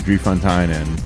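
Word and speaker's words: Drie Fonteinen: So I don't know what it costs there, but I know that you can go to Drie Fontainen.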